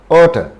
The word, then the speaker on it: oughta: Now, ought to, oughta. It's in British pronunciation, but in American pronunciation, to is pronounced a kind of daw. Oughta.